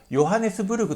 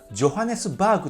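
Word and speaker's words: Johannesburg: あったらヨハネスブルグと発音するのではなく、ジョハネスバーグと発音してください。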